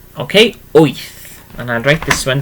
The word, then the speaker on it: wyth: Let's try number 8, okay, so number 8 is wyth, okay, wyth, and I'll write this one down for you.